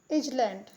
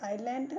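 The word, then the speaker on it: island: इजलैंड लिखा है इजलैंड लेकिन हम पढ़ते हैं आइलैंड और हिंदी मतलब होता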